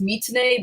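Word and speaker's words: 3tene: So it's pronounced Mitane, but it's spelled 3, the number 3, Tene.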